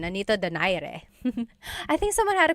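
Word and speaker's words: Nonito Donaire: So our first poll here is going to be Manny Pacquiao versus Nonito Daire or is in in the Tagalog uh pronunciation. Nanito Dire.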